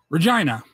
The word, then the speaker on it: Regina: is and I've confirmed that this is the pronunciation Regina re yeah GI and seen on the map